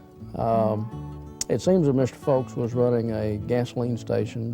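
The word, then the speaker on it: Fooks: Mr BT folks it's it's not spelled the way it sounds it's f-o-o-k-s but it's pronounced folks it seems that Mr folks was running a gasoline station downtown Camden in 1926.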